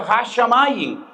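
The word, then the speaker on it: הַשָּׁמַיִם: Y la juntan con el artículo y pronuncia hashamain, lo que significa que Dios unió el fuego y el agua y creó los cielos.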